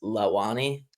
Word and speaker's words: Launi: yeah, it's originally pronounced Lawani, but Lawa.